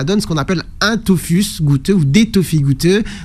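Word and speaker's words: tophus: peau et ça donne ce qu'on appelle un Tofus goûteux ou des Tofus goûteux vous en avez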